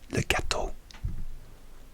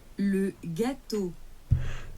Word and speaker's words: gâteau: Okay, so how do you pronounce gâteau? Le gâteau. Le gâteau. Le gâteau. Le gâteau.